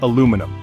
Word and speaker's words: aluminum: Americans say aluminum, while much of the world says aluminium. Both are correct.